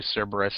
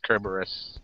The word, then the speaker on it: Cerberus: me with this uh in in English it's usually Cerberus that's what I go by but if you're in the Greek it's kerberus oh okay oh wow